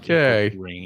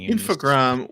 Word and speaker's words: Infogrames: Very sure that it's not Infogrames. Infogram was a portmanteau of information and grames. It was a portmanteau of informatique. What is it? Informatique. Program. Information technology and program. Oh. Yeah. But in French it's programme. So it's Infogram.